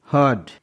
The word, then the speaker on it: heard: Example, HEARD, हर्ड, यहाँ पास R के बाद में एक कॉन्सोनेंट D है इसलिए R साइलेंट है।